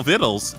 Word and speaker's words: victuals: Which also means that Larissa knows how to spell vittles, and it isn't spelled like it sounds.